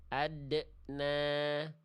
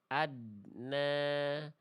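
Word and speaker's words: أَدْنَىٰ: Kenapa yang B salah? Dengerin aja pantulannya. Adna adna ya. Bunyi dal sukunnya ada pantulan di ujung pelafalannya kayak ketahan. Jangan ya. Lalu yang C salah karena adna adna adna tidak ada pantulannya sama sekali.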